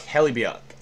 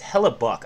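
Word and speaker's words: Hellebuyck: With this guy, this is Hellybyuck over on the Chep channel. It's Hellybuck. I don't know why I always mispronounce it. There's an extra Y in there.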